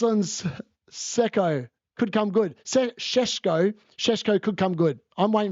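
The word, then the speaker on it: Šeško: I literally pronounce it deliberately like because he put a video out saying it's pronounced Sheshko. And I think Mark Goldbridge says Sheshko.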